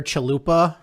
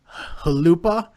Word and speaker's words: Chalupa: I looked on the NHL pronunciation guide, and it's actually pronounced Halupa. Which is very disappointing because I really wanted his name to be Chalupa.